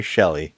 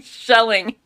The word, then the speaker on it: Shelley: Well, what's even more nuts is in the courtroom, Mary Shelley. Shelley. Oh, I'm sorry, Mary Shelley. Shelley. I'm sorry, Mary Shelley. Yes. You keep saying shelling.